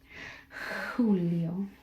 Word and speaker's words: Julio: In Spanish, it sounds much more like an H. So you breathe into it. Julio, Julio. Yeah, Julio.